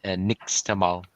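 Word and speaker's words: nixtamal: taught me about that stuff it's yeah it's pronounced next all okay what's crazy is I went to this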